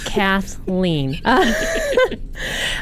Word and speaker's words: Cathleen: all the time and it's two syllables it is two syllables Kathleen I've been servi Nia